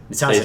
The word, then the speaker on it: Sazed: Sazed is how they say it.